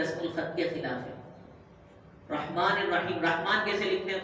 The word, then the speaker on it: رحمان: رسم الخط نہیں ہے، حالانکہ تلفظ رحمان الف کے ساتھ ہی ہوتا ہے اور قرآن